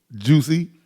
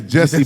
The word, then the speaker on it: Jussie: Ooh, Juicy. we did give him the shit head of the week when that shit first happened. His name is Juicy for real? His name is Jesse, but it's spelled Jussie.